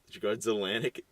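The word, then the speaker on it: Grudzielanek: Grudzelanik. Is it Grudza. J? No, it's an E. So it's I-E? no. Yeah, it's Oh my goodness. Z-I-E. It's pronounced Z according to the pronunciation key here.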